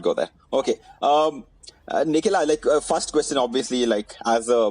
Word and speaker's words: Nikhila: Am I pronouncing it right? Nikhila? Yes, that was surprisingly accurate.